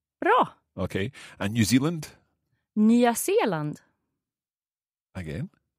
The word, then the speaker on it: Nya Zeeland: Yeah, so we would pronounce every vowel. Mm-hmm. So Australian. Australian. Bra. Okay. And New Zealand? Nya Zeeland. Again? Nya Zeeland.